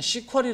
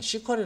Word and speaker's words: SQL: spl 문 이라고도 하고요 어떤 혹자들은 시 쿼리 라고도 얘기를 합니다 영어 저쪽에 저 미국에 있는 애들은 시 쿼리 라고 읽어요 그래서 skd 된 시크릿